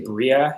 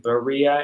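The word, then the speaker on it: Beriah: the world of creation i usually say bria and and that's a really common one but i think berea it's actually three syllables so i'll try to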